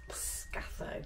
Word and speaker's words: Portscatho: a nice chat to some locals and you pronounce this place po scath scao not SC we've been calling it for the